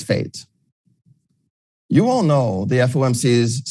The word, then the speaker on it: FAIT: flexible average inflation targeting whose acronym is fait and which i pronounce as fate you all know the